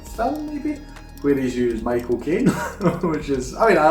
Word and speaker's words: Michael Caine: my my uncle says if you want to know how to pronounce the name you just say my cocaine as in the drug and then you'll get the exact pronunciation that he himself was michael king that's exactly how he